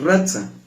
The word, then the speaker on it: ratza: que proviene de una raíz que es ratza así como se escribe r a t s a con en l que